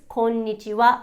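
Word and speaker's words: こんにちは: be pronounced pronounced o the kanaha is what is used to spell the japanese phrase konnichiwa which means hello and although it sounds like it ends with wa it is actually written as ha and just pronounced as and the same actually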